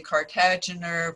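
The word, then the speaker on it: Kartagener: I say Cartagener, some of you may say Cartagener, but Dr. Cartagener pronounced his name Cartagener, so that's why I'm saying it this way.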